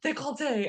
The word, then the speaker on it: Decollette: We pronounce it this way in French, like décolleté."